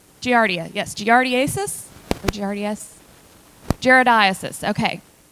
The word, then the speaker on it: Giardiasis: Giardiasis.